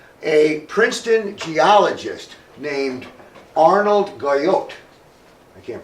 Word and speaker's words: Guyot: Princeton geologist named Arnold Guyot I can't pronounce the names very well but it's geo GUI ot so I say Guyot he never heard that